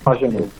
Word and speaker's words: Pagenaud: Como se pronuncia? Simon Pagenaud.